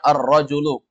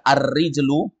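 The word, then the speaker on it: الرجل: ar arra ar contohnya arrajulu Arul Apa arrajulu artinya dewasa laki-laki dewasa Kalau antum baca arrijlu artinya kaki kalau dibaca arrajulu laki-laki dewasa kalau ini Arab gundul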